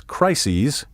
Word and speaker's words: crises: becomes theses crisis becomes crises and neurosis becomes neuroses as you can hear the second syllable of the plural form is pronounced ease take care not to